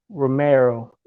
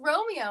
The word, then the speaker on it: Romeo: ex co-worker of mine, hmm comedian today, Mary Romero. What up, Am I saying it right? Am I saying it right? Romeo? Romeo. Is it Romeo? It is Romeo.